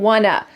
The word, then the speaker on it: want to: The words want and to become wanna.